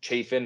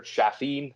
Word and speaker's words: Chafin: and they didn't move Andrew Chafin or Chaffin. I say Chaffin because it sounds cooler. It's definitely not how you pronounce it, but it sounds cooler that way.